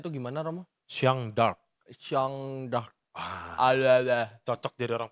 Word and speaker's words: Jeanne d'Arc: Bacanya Jeanne d'Arc.